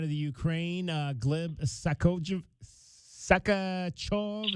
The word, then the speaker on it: Sakharov: Sakharov, is that how you pronounce that one? Yes. Sakharov. Yes.